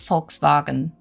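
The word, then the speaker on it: Volkswagen: Well, that's the funny thing because it is pronounced folks bargain and do you know what it's actually translates to?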